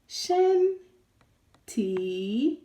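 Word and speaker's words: 身体: Shēntǐ, shēntǐ, shēntǐ, shēntǐ. Okay, shēntǐ means also means body. Shēntǐ also means body. Okay, so if you hear shen or shēntǐ, shēntǐ, it means body.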